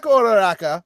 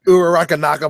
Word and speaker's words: Uraraka: So Ochako Uraraka, by the way, that's how you pronounce her fucking name, not Uraraka Naka, whatever the fuck you were doing.